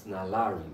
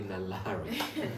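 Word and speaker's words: 날라리: It's hard to explain with words, and actually the entire music video is very Nalari. The outfits and the scene too, is Nalari. And in Korean, Nalari pronunciation is closer to LALALI.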